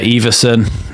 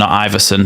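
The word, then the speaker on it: Iversen: the way through to Everson who I found out during this game he's pronounced Everson Iverson so we'll be saying Everson from now on just so you know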